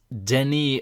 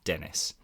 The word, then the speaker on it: Denis: of the interview with this guest that they pronounced their first name and I just I just couldn't believe it it's Denny agago so Denny d n i s and